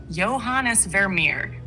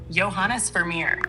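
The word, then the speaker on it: Johannes Vermeer: who painted Girl With a Pearl Earring is pronounced johanes verir johanes verir thank you well we're going to put this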